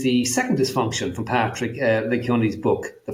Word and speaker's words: Lencioni: Patrick, pronounce his name? Lencioni.